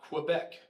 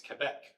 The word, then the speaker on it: Quebec: It's not Quebec, it's Quebec. It's not Papa, it's Papa.